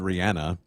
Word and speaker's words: Rihanna: yes I was just gonna say you mentioned Rihanna that is actually how you pronounce her name obviously all got schooled about